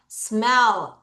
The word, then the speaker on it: smell: smell. 얘들아, L 발음. 자, 윗니 뒤에부터 다시 뭐라고? smell.